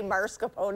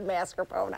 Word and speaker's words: mascarpone: spring it's not pierogi it's like the people who say marscapone is in a mascarpone I don't know it's